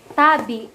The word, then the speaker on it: tabi: Tabi. The stress is in the first syllable. Tabi.